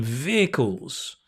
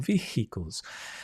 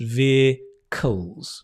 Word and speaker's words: vehicles: I think you mean vehicles vehicles although I've heard some Indian students say ve ve or vehicles but in British English we don't pronounce the h just vehicles vehicles yes outdated Technologies